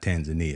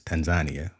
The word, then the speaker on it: Tanzania: motherland we're going to Tanzania that's how they say it it's not Tanzania it's Tanzania so we we going to